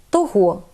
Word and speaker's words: того: Займенники той, цей. Якщо їх відмінити, то в родовому відмінку однини маємо наголос на останньому складі. Того, цього. А коли ці ж займенники вжити разом із прийменниками, то наголос знов переходить на перший склад. Отже, правильно сказати «до того», «після цього».